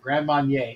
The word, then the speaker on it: Grand Marnier: Grand Marnier. What is it? I can't pronounce the cap, but Grand Marnier. Yeah, Grand Marnier. It's Marnier. Grand Marnier in the French, and that's what I drink.